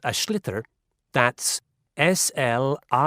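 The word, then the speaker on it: sliotar: you have to get this ball called a schlitter that's s-l-i-o-t-a-r it's not spelled the way it's pronounced you hit it into the net for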